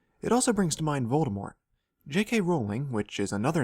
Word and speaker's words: Voldemort: It also brings to mind Voldemort. J.K. Rowling, which is another name victim of this concept, has said that she intended the T to be silent, but everyone read it pronouncing the T.